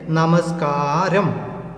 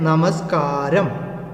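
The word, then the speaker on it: നമസ്കാരം: इसका प्रोनाउंसिएशन ऐसे होते हैं, नमस्कारम। उच्चारण ऐसे हैं, नमस्कारम, है ना?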